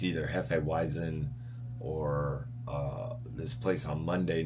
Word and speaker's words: Hefeweizen: It's either Hefeweizen or this place on Monday nights where I go, they call it Hef. I'm like, Hefe.